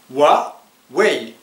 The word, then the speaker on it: Huawei: en fait ce mot se prononce avec deux syllables wa way répétez après moi wa vous voyez il y